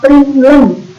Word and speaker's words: println: Dan yang ini bacanya system out println. Bukan I, bukan L besar, tapi L kecil, bukan satu juga ya, tapi system out PRINTLN.